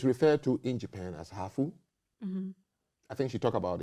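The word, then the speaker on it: ハーフ: You are called hafu. Okay, so it's spelled H-A-A-F-U because Japanese can say half.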